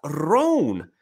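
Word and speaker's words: Rhone: Roan is spelled R-H-O-N-E.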